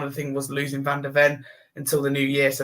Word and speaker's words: Van de Ven: I don't pronounce the same. Van de Ven.